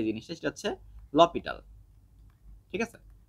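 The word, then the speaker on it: L'Hôpital: যে জিনিসটা সেটা হচ্ছে লপিটাল ঠিক আছে আর তোমার একদম প্রোনাউন্সিয়েশন যদি তুমি এরকম অক্ষর ধরে ধরে করো সেক্ষেত্রে আসে এল হসপিটাল সো একেকজন একেক রকম বলে হোয়াট এভার এখন কথা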